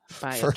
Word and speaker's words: Viator: Viator.